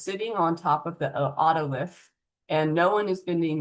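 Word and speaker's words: otolith: I've heard it pronounced ulith orith. Those are fine, too. Ottolith is what I'm going to say.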